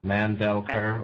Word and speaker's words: Mandelker: last name uh you have to pronounce all three syllables um man Bell CER or Mander mandelker or Mander we've got